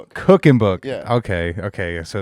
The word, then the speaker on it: Kuchenbuch: Is it How do you say how do you actually pronounce it? Cooking book. Cooking book. Okay. Okay. So, it's not Cooking Book. No, it's not.